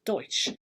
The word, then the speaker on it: Doix: It's spelt Doix, but that's Deutsch.